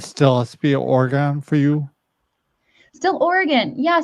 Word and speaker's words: Oregon: are we saying Oregon wrong? Because Bob and I are saying Oregon. No, it's organ, right? Not yours, you are saying it wrong.